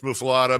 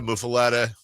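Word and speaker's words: muffuletta: Um, this is the world famous mufilada. Mufaletta. It's pronounced different ways.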